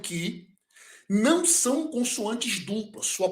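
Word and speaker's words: χ: sobre o alfabeto, que algumas pessoas, quando vão pronunciar o ki, eles pronunciam ri. Geralmente a pronúncia erasmiana e a pronúncia moderna, uma das duas, vai pronunciar como ri. Mas a pronúncia que nós estamos utilizando, o ri, ele tem um som de ki, embora seja transliterado pelo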